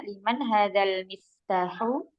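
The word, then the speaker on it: لمن هذا المفتاح: Iya, coba diwasal saja bacanya. Liman hadzal miftahu.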